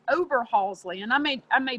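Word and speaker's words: Oberhasli: the other breed it's a swiss breed it's over halsey and i made i may botch the pronunciation it's o b e r h a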